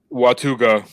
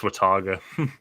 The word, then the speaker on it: Watauga: make you solo bro watuga Watauga nope wait how do you pronounce no nobody got it right it's Wataga what's up that sounds